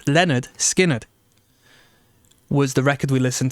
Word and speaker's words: Lynyrd Skynyrd: Lynyrd Skynyrd, pronounced Lynyrd Skynyrd, was the record we listened to.